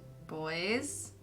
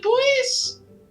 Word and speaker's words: buoys: the boat has some buoys he sighs boys boy is it boys where do you think the word buoyant comes from i don't know the same base i never heard it pronounced that way really yes wow wish